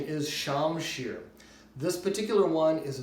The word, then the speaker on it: shamshir: with this wonderful object right here a Persian shamshir sword from the 17th century now this type of sword is incorrectly called a scimitar but the correct pronunciation is shamshir this particular one is a very exceptional sword